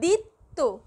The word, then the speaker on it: দ্বিত্ব: শব্দের শুরুতে বফলা কিন্তু উচ্চারিত হচ্ছে না, হচ্ছে দিত্ত, দি এবং শব্দের মধ্যে